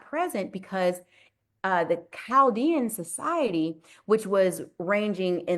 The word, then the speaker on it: Chaldean: So it looks like Chaldean, but they pronounce it Chaldean numerology.